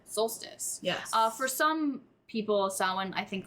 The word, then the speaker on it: Samhain: The next is Samhain, which is pronounced Samhain. Spelled. Yes, it's spelled Samhain. Spelled Samhain, pronounced Samhain.